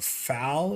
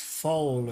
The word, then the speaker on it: foal: Also, I got a little bit of crap for calling it a fowl. It's a foal or something like that. A fowl is a baby bird apparently, and I sound stupid, but it's pronounced foal or something.